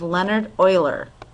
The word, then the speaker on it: Leonhard Euler: This is actually to honor another mathematician by the name of Leonhard Euler. That's the German pronunciation.